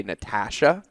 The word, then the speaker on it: Natasha: And then I'm going to figure out now whose name I'm going to mispronounce because my brain keeps saying Ash. Your brain keeps flipping the A.